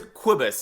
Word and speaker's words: Cobus: First name is Kobus. If you think about like Quidditch.